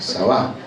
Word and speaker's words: Sabá: Que lo encontramos en que la reina de Sabá, acento en la de Sabá, ¿no? Sabá, ¿no?